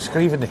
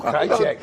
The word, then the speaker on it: Krajicek: I never quite got the pronunciation, but Krajicek. Is it Scrivening? No. Richard Krajicek. Oh, no, Krajicek. Yes. Yeah, now he knows.